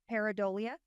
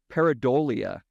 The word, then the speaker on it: pareidolia: Pareidolia. Pareidolia.